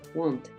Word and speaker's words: wanted: quise pasado listo no tú dices Wanted Wanted suena esa Ed Wanted esa de D suena prácticamente Igual muy parecido a español hay personas que lo